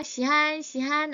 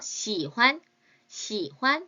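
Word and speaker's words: 喜欢: 중국말로 뭐라고 하면 좋을까요 자이 단어 발음 조심해 주셔야 돼요 시한시한 아니에요 시환 시환 점찍듯이 꼭 찍어 주셔야 해요 사계절 뭐가 있을까요 봄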